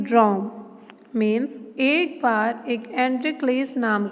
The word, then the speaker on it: Androcles: हम इसे कैसे प्रोनाउंस करेंगे, एंड्रिक्लेस.